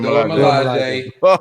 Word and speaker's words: Dora Milaje: Dora Milaje. Yeah, the Dora Milaje.